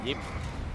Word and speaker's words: Ip: It's actually pronounced as Yip.